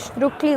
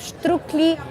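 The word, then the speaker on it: štruklji: is written uh uh over here on the top we have strictly s t r u k l j i and then Above This s we have an accent and that is pronounced as sh in in English yeah sometimes people say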